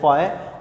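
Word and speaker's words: phi: Greek language का word है, pronounce आपने इसको करना है फाई।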